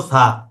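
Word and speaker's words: ث: এটা হলো সা। এটা উচ্চারণ করতে হবে জিহ্বার আগাটাকে লাগাতে হবে দুই দাঁতের আগাতে, এইভাবে। জিহ্বার আগাটাকে উপরের দুই দাঁতের আগাতে লাগাতে হবে এভাবে।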